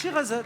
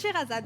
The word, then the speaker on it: Charazade: Voilà, ça s'écrit Charazade, mais ça se prénomme Sherazade. On le prononce Sherazade. On le prononce Sherazade, ouais.